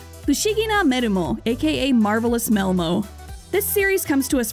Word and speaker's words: Melmo: The heroine's new name, Melmo, highlights her transformation abilities, deriving from the Japanese pronunciation of the word metamorphose. Metamoruhose, me-ru-mo.